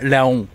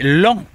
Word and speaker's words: Laon: Alors oui, cette ville qui s'écrit Laon ne se dit pas Laon mais l'an.